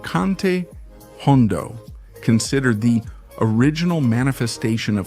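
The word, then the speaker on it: jondo: But because many Andelucians pronounce that initial H with such a strong aspiration, the word ended up sounding as if it had a J.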